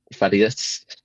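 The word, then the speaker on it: Thaddeus: Fus, I don't know how you actually pronounce it, but Faddius, I think it's the one who um obviously the Legion, the new the NCR.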